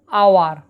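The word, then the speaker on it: hour: ব্যাপারটা কি দেখো, আওয়ার, এই দেখো এইচ ও ইউ আর আওয়ার হচ্ছে, এইচ কিন্তু এখানে সাইলেন্ট, আর উচ্চারণ হচ্ছে আ,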